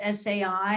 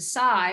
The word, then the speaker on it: SAI: some of you might still be calling us Sai and and a year ago we made the transition to Psy which is actually the way in which it's